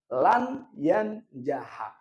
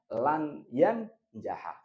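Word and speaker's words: لن ينجح: Berarti bacanya lan yanjaha. Yang baca lan yanjahu atau lan yanjah salah. Yang benar lan yanjaha.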